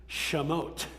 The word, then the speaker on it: Shemot: The Hebrew name of this book is Shemot, which means names.